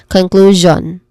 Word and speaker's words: conclusion: Conclusion.